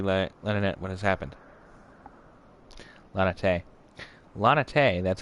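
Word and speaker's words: Laniaitte: and tell lady la leonette what has happened lanatay lana tay that's how you pronounce that all right now i want it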